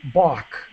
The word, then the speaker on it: balk: And so, and to balk, just quickly, the L is silent. We just say balk, which means to hesitate or say no.